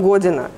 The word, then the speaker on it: година: Самое, причем вот про первое слово, ну, в украинском это «гудина», в черногорском «година». Пишется одинаково, но произносится по-разному.